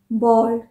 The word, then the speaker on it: bold: again बहुत confusing है बी ए एल डी बॉल्ड बॉल्ड और बी ओ एल डी बोल्ड एक